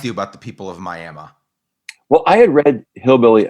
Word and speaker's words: Miami: miami uh spelled miami that i found out pronounced miami and then um you know some outlying rural